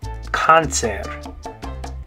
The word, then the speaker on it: cáncer: All right, the next one is in English, it's the word cancer. The way we say it is cancer, but in Spanish, you're going to say cáncer.